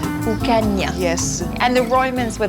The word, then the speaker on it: Ucanha: So Inish, how do I pronounce the name of this town? Ucanha. Ucanha.